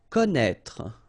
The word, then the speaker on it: connaître: Okay, so you get this accent circonflexe on the top of I here, but then, you don't pronounce it, okay, so don't be afraid by this accent circonflexe because you won't pronounce it.